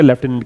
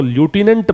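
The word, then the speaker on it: lieutenant: American English में इसको ल्यूटिनेंट pronounce किया जाता है। क्या पढ़ते हैं, ल्यूटिनेंट, अगर अमेरिकन इंग्लिश है तो। ब्रिटिश इंग्लिश में से वो क्या पढ़ेंगे, लेफ्टिनेंट पढ़ेंगे।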